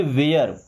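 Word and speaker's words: ware: bear M ए आर ई से पढ़ेंगे mayor W ए आर ई से पढ़ेंगे वेयर स्पेयर क्या हो जाएगा स्पेयर ओके वहीं पे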